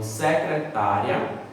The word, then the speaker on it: secretária: dele paroxítona muito velho então secretária é uma palavra paroxítona porque a penúltima sílaba é a mais forte lembra é a penúltima